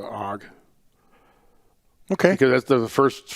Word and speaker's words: AUG: come up for me the steyer og i've always pronounced it the hog okay because that's the